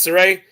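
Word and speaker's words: Sareee: It's S-R-E-E. It's 3 E's. Sarai? It's like an A. That's how you say it, Sarai?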